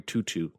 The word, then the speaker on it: Tautou: I believe her name is pronounced Audrey Tutu.